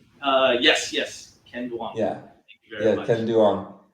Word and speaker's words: Ken Duong: the biggest real estate agent in Vietnam Mr Ken dong am I pronouncing that right uh yes yes Ken dang yeah very much Ken dong yeah you look